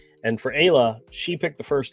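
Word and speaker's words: Ayla: the K bear which the main character's name is Aya and I've heard it pronounced Isa but we kind of settled on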